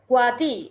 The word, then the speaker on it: CWATY: And also, I am really happy that you are doing for Kuati. Yes, am I right? I'm pronouncing right. Yes, Kuati.